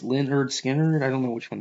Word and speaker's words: Lynyrd Skynyrd: now what's the one Lynn pronounced Leonard Skinner I don't know which